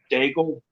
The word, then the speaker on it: d'Aigle: it is for just daigle yeah yeah the way we pronounce it is it rhymes with bagel okay yeah that's from